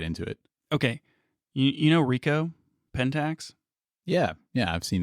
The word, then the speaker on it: Ricoh: you were trying to pronounce the name Rico yep I said ricot cheese yep anyway I think